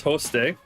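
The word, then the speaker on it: ὥστε: and so that and that's host day um I'll show you that there so it's a rough breathing Mark over the Omega which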